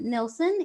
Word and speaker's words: Nilsen: anyway hello and welcome everyone this is Liam Nelson who is now and I'm gonna said your last name wrong those perfect oh good Liam used to